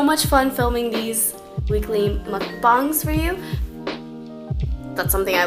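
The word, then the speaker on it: 먹방: was more of uh pronounced more like mukbang so yeah now I'm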